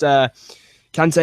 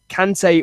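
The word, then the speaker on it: Kanté: Yeah, I think that's the way it's pronounced. Kante, of course.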